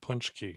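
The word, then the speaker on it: pączki: polish uh polish polish donuts tell them how it's spelled this word punch key believe it's p-a-c-z-k-i that's such a great spelling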